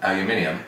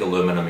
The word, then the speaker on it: aluminium: How do you pronounce it? Aluminium.